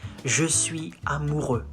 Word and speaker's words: je suis amoureux: You say, je suis amoureux.